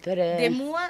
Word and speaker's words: Ademoa: Ademua come si scrive? Ademua si scrive Ademoa. Ademoa, perfetto.